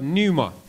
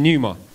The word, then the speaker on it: pneuma: the word spirit in greek is the word numa everyone's saying numa p-n-e-u-m-a i think that's how it's spelt pneuma and that just means beyond the